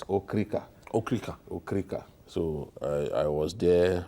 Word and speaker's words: Okrika: We call it, a lot of us pronounce it Okrika, but it's Okrika.